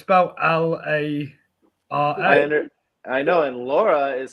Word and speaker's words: Lara: one was hotter as Laura Croft or will be hotter than Angelina Jolie in Laura Croft Tomb Raider it's Lara Croft oh it's Laura here is Laura is